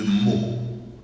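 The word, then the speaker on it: Meaux: était aussi évêque de mot en France quand je dis mot ça s'écrit M e a x ben il était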